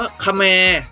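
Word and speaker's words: เขมร: ลุก ชนิด หนึ่ง กับ อีก คำนึง อ่าน ว่า ขะ แมร์ นะ ครับ เขียน เหมือน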